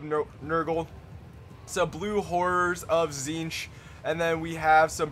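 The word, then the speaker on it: Tzeentch: some Marauders chosen of corn some forsaken of zinch I know how to say it now by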